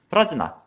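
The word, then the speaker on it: प्रज्ञा: 그리고 여기서 얘기하는 그 반야는 프라즈나, 그래서 지혜로 번역되는 산스크리트어입니다. 그래서 바즈라 체디카 프라즈나였을 거예요 아마도. 원래 산스크리트어에서의 발음이 금강인데.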